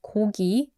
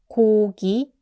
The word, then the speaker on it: 고기: which means meat, and I usually romanize it as G-O-G-I. Even though it doesn't exactly sound the English G, that's okay. Sometimes students comment that it still sounds like K, and that's understandable. But for Koreans, it's actually a clearly different sound.